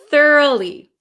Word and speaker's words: thoroughly: Could you please pronounce thoroughly? Yes. So thorough, if we change it to an adverb, thoroughly.